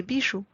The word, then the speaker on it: bijoux: And please do not pronounce the X at the end. Let's read those exceptions together. Un chou becomes des choux. Un bijou becomes des bijoux.